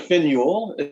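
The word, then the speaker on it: Finn Juhl: No, but it was that, and there's like Finuel. You don't pronounce the J.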